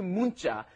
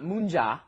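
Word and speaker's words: 문자: our pronunciation is not munja okay you don't pronounce it that neon that comes right before it forces it into a hard consonant a tense consonant you say oh i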